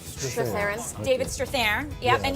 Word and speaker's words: Strathairn: Strathairn. Strathairn.